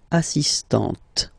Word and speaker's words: assistante: So don't pronounce the final T here. But for the feminine form, elle est assistante.